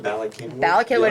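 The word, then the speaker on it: Bala Cynwyd: the the town is probably the size of Bak Henwood what I imagine so if you don't live in within five that's how you pronounce this town Bakin binw it's Welsh yes there's no there's there's a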